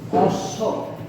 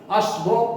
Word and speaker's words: অশ্ব: যখন আমরা লিখি অশ্ব, অ তালবসয় ব, এই যে বটি অশ্ব, আমরা কি এই বটার উচ্চারণ আসছে আমাদের উচ্চারণের সময়? অশ্ব এরকম তো বলি না, আমরা বলছি অশ্ব।